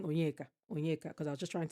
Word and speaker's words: Onyeka: commented on the video was literally me saying Onyeka, because I was just trying to say how people should pronounce Onyeka because it was killing me.